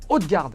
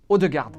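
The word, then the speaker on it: Ødegaard: Alors on a bien dit Odegaard et pas Odegaard.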